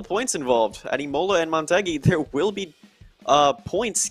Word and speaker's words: Motegi: crucial and of course you're pronouncing it correctly the montei for those who are